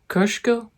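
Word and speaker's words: Kosciuszko: near Mount coo whereas my polish friend would correct me and say it's Mount kushko I think is a Polish way of pronouncing it but in that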